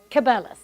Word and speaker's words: Cabela's: cabela's is that how you say it cap cabela's there you go so drying mushrooms is a